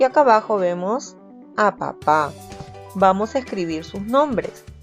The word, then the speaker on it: papá: vez vuelve escribir pa papá muy bien papá suena fuerte en la última sílaba y le ponemos team